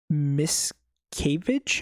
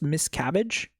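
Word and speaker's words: Miscavige: Um, so basically one of his lieutenants uh called David Miscavage, I think it's pronounced Miss Cabbage.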